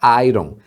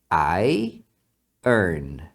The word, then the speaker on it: iron: o detalhe é que não se fala Iron tá se você falar Iron o cara vai pensar nisso aqui essa palavra na verdade você fala I Earn ir ir não é